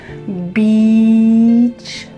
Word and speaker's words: beach: So, let's practice that vowel sound. It needs to be a long e. Beach.